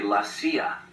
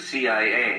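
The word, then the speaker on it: la CIA: around here they say lasia instead of CIA huh yep nothing strange about it that's how it's pronounced when you read it in Spanish it has the feminine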